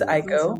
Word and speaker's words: Aiko: So my name is Aiko, spelled Aiko, rhymes with Geico.